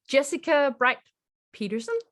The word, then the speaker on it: Jessica Brite Peterson: Welcome, JessicaBrite Peterson. Was it pronounced correctly?